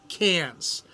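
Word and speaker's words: Cairns: It's spelled C A I R Ns, but it's pronounced Cans, like what you drink a beer out of.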